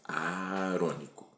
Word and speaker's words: aarônico: Portanto, a gente sempre lembra é porque vem de Arão. Então a pronúncia é essa arônico.